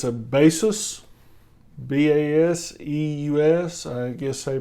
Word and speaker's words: Baseus: hub for the ipad pro but it's a basis b-a-s-e-u-s i guess they pronounce it it fits on the corner of